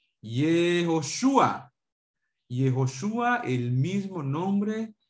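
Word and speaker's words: יהושע: ¿Cómo se dice Josué en hebreo? ¿Se acuerdan? Yehoshua.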